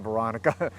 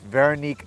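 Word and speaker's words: Véronique: goodbye excuse my mispre-name mispronunciation veronica it's veronique goodbye and i don't have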